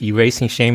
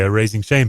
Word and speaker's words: Erasing Shame: say that that's right erasing shame is how we pronounce it as Americans yeah yeah yeah uh